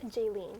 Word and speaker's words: Jealyne: for Jess how do you say your name jayen jayen jayen is in first Jess is in